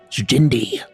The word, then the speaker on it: Jindy: charge jindy yeah what emphasis on the D Jim Jim Jim Jim D Jim D Jimmy D D the D Jimmy like Jin like the drink and D hen don't say it wrong all right gy okay